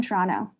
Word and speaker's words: Toronto: the T, the last T is not pronounced. It's Toronto. It's not Toronto. That's how you know.